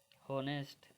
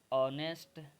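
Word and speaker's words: honest: एक है आपका HOUR हेयर, एक है आपका हेयर, एक है आपका होनेस्ट और एक है आपका होनर।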